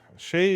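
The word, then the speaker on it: chaise: Shay is spelled C H I Z, right?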